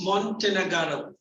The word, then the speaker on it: Montenegro: How do they pronounce? It's Montenegro.